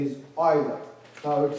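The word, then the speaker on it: Euler: him G he's o it's like oil oil okay that's how it's pronounced is a Swiss mathematician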